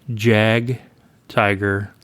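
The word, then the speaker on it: Jagdtiger: And I have been saying Jag, Tiger, and Jag Panther. The J is a Y, basically.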